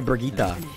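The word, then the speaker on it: Brigitte: Like, I don't actually say Bridget like that. I say Brigitta. Isn't that how it's pronounced?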